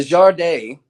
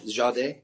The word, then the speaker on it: jardin: Now, the Jardin, and Chantel Marie, she's from Canada, but she taught me the proper French pronunciation. Did I get that right? Jardin?